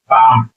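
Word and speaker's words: palm: हथेली क्या बोलते हैं, पाम, एल साइलेंट होता है इसमें, पाम मीन्स हथेली, पाम मीन्स हथेली, जिसमें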